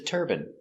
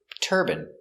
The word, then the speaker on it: turbine: and urine let's practice these two words are pronounced exactly the same turban he's wearing a turban and turban this is a turbine in America it's more common to hear turbine but in England they say turbine some people in America